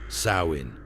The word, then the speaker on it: Samhain: Britain, where people celebrated the festival of Samhain, pronounced Samhain.